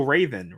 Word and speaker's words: Raoden: The the D is silent. So that's the problem is now I've seen it written in text and I really wish I hadn't done that because it's better when I was just audio I was like it was that so Raven right it was like